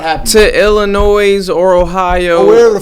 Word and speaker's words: Illinois: It's Illinois. You don't say the S.